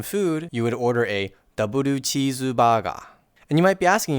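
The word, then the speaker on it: ダブルチーズバーガー: And maybe if you wanted to get some food, you would order a double cheeseburger. And you might be asking yourself, why are these words pronounced with so many extra syllables?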